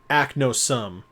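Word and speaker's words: Aknosom: pronounce it the way he said it act no sum all right cloud act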